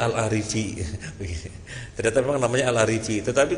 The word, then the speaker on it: Al-Arifi: Seperti misalnya ada tulisan Muhammad Al-Arifi, orang bacanya Al-Arifi. Kemudian ada orang mengoreksi, bukan Al-Arifi, itu dibaca mesti Al-Uraifi. Yang nggak tahu yang benar yang mana. Ternyata memang namanya Al-Arifi.